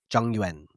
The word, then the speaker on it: Zhongyuan: So the pronunciation phonetically is roughly Zhongyuan.